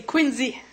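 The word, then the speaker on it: Quinzhee: Ensuite, nous avons Annie Dussault qui nous parle de comment construire, comment ça se prononce en fait? C'est Quinzy.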